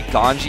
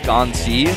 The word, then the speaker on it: GanZi: my twitter were saying why do you say ganji instead of ganzi well gone z is how it's spelled in english but in korean there's actually no z sound so the closest thing they have is uh there's a like that g type of character so that's why you